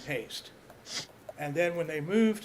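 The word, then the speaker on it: Paiste: call and talk to them, and originally they pronounced their name Paste, and then when they moved to Los Angeles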